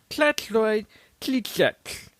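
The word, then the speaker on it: Slavoj Žižek: So this is how you pronounce his name. Check this shit out. Klatloy, kliklek.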